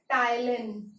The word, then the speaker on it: ptyalin: Salivary amylase is also called ptyalin. And this P is silent.